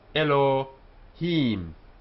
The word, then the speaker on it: Elohim: God just a reminder it's got two syllables ELO he the first is open ELO and the last is closed he the vowels here we have the um h and what's called the which is a very short e sound but it's only half a vowel and this is why this is one syllable here ELO it's not e it's Elohim so a word only